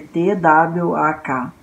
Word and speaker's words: tvak: A primeira que a gente vai falar é uma que em sânscrito se escreve T-W-A-K, Twak, ok? W-A-K. Poderia escrever T-V-A-K também.